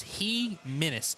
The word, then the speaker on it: Jimenez: The way he described it to me is it's Jimenez almost, but it's Menez.